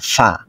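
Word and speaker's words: ف: ফা যখন উচ্চারণ করব তখন উপরের দাঁত ও নিচের ঠোঁটের পেট, উপরের দাঁত এসে স্পর্শ করবে নিচের ঠোঁটের পেটের মধ্যে এবং ভিতর থেকে বাতাস বের হবে, একদম নর্মাল আওয়াজ হবে, এটা হার্ড করার কোনো প্রয়োজন নেই।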